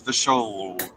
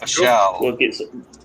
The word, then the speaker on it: Vishal: We met Prashant and Vishal. It's Vishal. It's like Michelle, but with a V. Okay. Vishal.